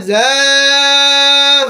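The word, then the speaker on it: ذا: করা] জোরে পড়েন যা যা যা যা জা হরফটা হচ্ছে জিহ্বার আগা সামনের নিচে দুই দাঁতের পেট ও আগার সঙ্গে লাগায়ে উচ্চারণ করতে হবে সামনের নিচে দুই দাঁতের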